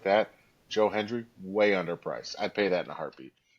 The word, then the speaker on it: Hendry: like when we took Henry and I'm sorry, let me pronounce that better. Joe Hendry. It almost sounded like I said Uh, Henry, but I have a dip in.